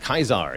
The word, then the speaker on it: Caesar: So Caesar is pronounced Kaisar, yes.